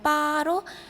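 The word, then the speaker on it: 八: 연상하는 것을 말합니다 특히 숫자 8의 발음은 빠로 돈을 다의 카이랑 비슷하기 때문에 중국인들은 숫자 8을 좋아합니다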